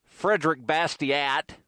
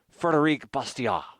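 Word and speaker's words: Frédéric Bastiat: Law by a Frenchman who most Americans call Frederick Bastiat, although the correct pronunciation would probably be Frederic Bastiat.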